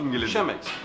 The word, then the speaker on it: Chemex: diyorum e Bazı insanlar kemex diyorlar Ben niye chemex diyorum Çünkü c h ş okunur İngilizcede chemex ama Avrupa'da kemex diyorlar Türkiye'de kemex deniyor chemex deniyor Biz bilsinler